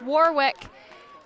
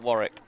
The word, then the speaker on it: Warwick: It comes out of Warwick. Of where? Is that not how you pronounce it? You'd pronounce it Warwick.